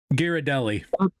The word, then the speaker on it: Ghirardelli: Uh the Jerry I can't ever pronounce the name of that. Ghirardelli. Ghirardelli.